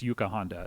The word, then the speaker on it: Yuka Honda: it by the way i think i was saying her name wrong it's yuka honda is okay member of